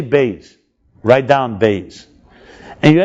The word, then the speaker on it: Beis: Like a B. And let's pronounce it. Say Beis.